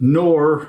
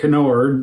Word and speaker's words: Knorr: I'm about to try 4 different flavors of Knorr or Knorr, depending on where you are.